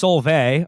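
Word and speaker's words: Solveig: is good Lord uh solvig pronounced Solvay okay sorry has received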